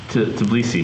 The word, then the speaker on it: Tbilisi: Tbilisi.